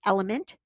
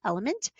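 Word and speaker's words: LMNT: my favorite products is element that's is spelled l m is in mother n is in Nanny t l m n t element and I do use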